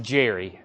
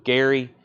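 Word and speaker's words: Gerry: I think I it's it's spelled with a G it's pronounced Jerry and and that's that threw me off for a long time I still sometimes say Jerry Gary Jerry Jerry with a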